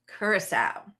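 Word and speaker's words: Curaçao: How do you pronounce it? Curacao.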